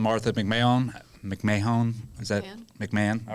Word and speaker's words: McMahon: Is that McMahon? All right. Yeah. Make sure I pronounce it correctly.